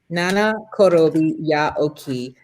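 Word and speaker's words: 七転び八起き: Nana korobi ya oki.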